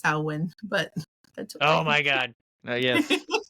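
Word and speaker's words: Samhain: mean and it's not Sam Hayne honey it's sawin but oh my God yes okay my bad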